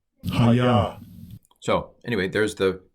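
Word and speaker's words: הָיָה: Hayah. Hayah. So anyway, there's the pronunciation of the dictionary form, not the pronunciation of the form in situ, which is Ehyeh.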